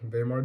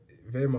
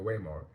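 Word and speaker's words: Weimar: modern Argentina Argentina they vear I think it's yeah because I know I realized I said in the last video wayar but that W in German is pronounced like a V so V because yeah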